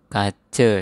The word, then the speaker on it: kaca: Ingat kalau A di belakang dibaca E ya. Misalnya ini kace dari kata kaca. Ini mata bacanya mate. Bapa dibaca bape. Kemudian apa kita ucapkan ape.